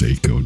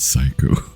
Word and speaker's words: Seiko: I'm pretty sure it's pronounced Seiko, not Psycho.